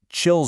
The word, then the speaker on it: QILL: or get this, they say you can pronounce it chill zones.